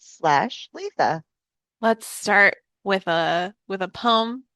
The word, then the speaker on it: Litha: Litha. It is spelled Litha, and we pronounce it Litha.